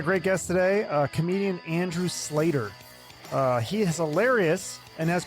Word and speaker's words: Sleighter: Welcome to the podcast, Andrew Sleighter.